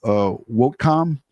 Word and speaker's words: Whitcom: And it's called WOTCOM, and it's spelled Whitcom, WHITCOM, and that's the communication center.